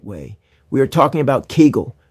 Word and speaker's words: Kegel: We are talking about Kegel, pronounced Kegel exercises.